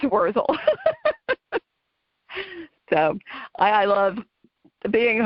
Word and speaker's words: Wurzel: So when my younger brother, got a little more sophisticated, he changed the pronunciation to Wurzel, but people put a T in there and call it Wurzel, but it's Wurzel.